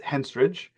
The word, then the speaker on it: Henstridge: it's directed by, again, if I get the name wrong, please correct me, Elizabeth Henstridge.